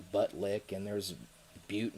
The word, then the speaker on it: Butte: butt lick and there's butte montana that's spelled like it looks like it says butt but it's not and we got a